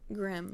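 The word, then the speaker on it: Grimm: is it Grimes or Grims? Grims.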